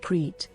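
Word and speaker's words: Crete: the name of the island of cres pronounced creit a part of the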